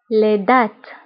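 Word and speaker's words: les dattes: تمر لدات لدات لدات. فبالنسبة لدات كنكتبوها بدوتي لدات. الجوز لانوا لانوا لانوا.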